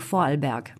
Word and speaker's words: Vorarlberg: de l'autriche le temps comment le prononce ton bon moi je peux le prononcé qu en allemand donc vorarlberg bon d'accord merci cette